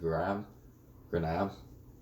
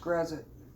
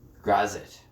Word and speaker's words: Grazit: Again, how did you pronounce it? Granab? It's pronounced Grazit. Grazit.